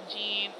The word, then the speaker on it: Jean: all done been corrected like gene is pronounced like French like Jean Jean go Jean Valjean